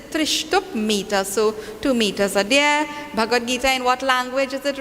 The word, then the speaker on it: Bhagavad Gita: we get to that i want everyone to pronounce the name of this shastra properly many times we have people saying the bhagavat gita okay bhagavat bhagavat is different okay so please